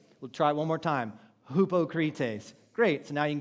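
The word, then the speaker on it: ὑποκριτής: sound and so in Greek this would be pronounced Hupa cretace so everybody say that repeat it we'll try one more time hupo cretes great so now you can go home and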